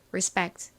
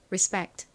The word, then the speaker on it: respect: 그래서 한국식으로 리스펙트 이렇게 발음하지만 실제 미국식 원어 발음으로는 respect respect 이렇게이 피를 거의 쌍 비에 가깝게 좀 세게 발음합니다 해 볼까요 존경하다 그리고이 단어는 존중하다 의미도 있어요 따라해 보세요 respect 오케이 자 팬들과 함께 써 볼게요 re re